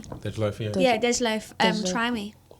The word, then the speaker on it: Dej Loaf: Dej Loaf, yeah.